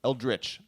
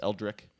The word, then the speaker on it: Eldritch: talking about eldritch moon eldritch I've been told that I say it wrong as Eldrick yeah it's okay but